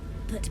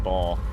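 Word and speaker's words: Bhaal: what you've done here but Ba's law is absolute you may leave unmolded uh-oh they said B and I've been saying ball I bet I've been mispronouncing it for approximately 10 and something episodes our enemy's fate here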